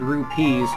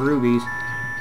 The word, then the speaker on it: rupees: good with spelling, and I just thought my pronunciation was wrong, so I'd heard rubies before, but I'd never heard rupees, so I always called them rubies.